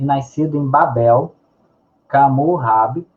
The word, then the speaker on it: Hammurabi: Portanto, 18 séculos antes de Cristo, e nascido em Babel, Camurrab, que é a pronúncia em babilônico, foi fundador do primeiro Império Babilônico, correspondente ao atual Iraque, né?